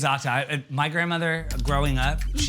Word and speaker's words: za'atar: And it's always za'atar. Za'atar. I feel like it's like a hi-ya when you say it. It's like za'atar. Yeah, she always says the R is silent.